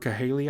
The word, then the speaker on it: Cahaly: Some had not voted since 2006, according to Trafalgar's CEO Robert Cahaly, I believe is how it's pronounced.